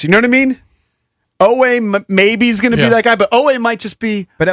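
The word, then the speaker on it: Oweh: It's easy to pronounce. Okay. O-W-E-H.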